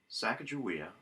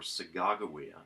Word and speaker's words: Sacagawea: other guys out there Sacagawea or saga' go eeeh there's many different ways of pronouncing this according to different people Sacagawea will serve as